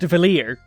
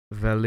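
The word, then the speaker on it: Valere: Adventure as upand cominging Solstice Warriors yes it's pronounced valer want proof valer here and this is definitely something I got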